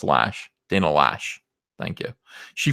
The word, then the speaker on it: Lash: It's pronounced Lash.